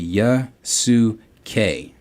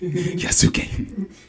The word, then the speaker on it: Yasuke: Yasuke. I knew it was gonna be that shit. Yasuke. I knew it was gonna be K whenever you kept saying Key.